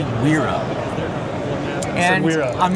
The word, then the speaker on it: Wera: I pronounce it Wera, and I've pronounced it Wera for about 30 years.